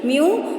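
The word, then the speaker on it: μ: ठीक है, इसको क्या प्रोनाउंस करेंगे? म्यू, और इसको बोलेंगे हम लैम्डा। उल्टा वाई जैसा जो होता है वो है हमारा लैम्डा, और यू जैसा जो होता है वो होता है म्यू।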